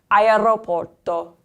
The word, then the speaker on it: aeroporto: So the first one is an AE combination. And you're going to sound out the I. So you don't get rid of any sound. So that word is going to sound like aeroporto.